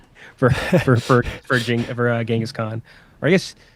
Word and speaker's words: Genghis Khan: But it is unfortunately not for Genghis Khan. Or I guess I've seen people say it's supposed to be pronounced Chinggis Khan, but I'm not. I'm saying Genghis. I was on a show somewhere where we were talking about that.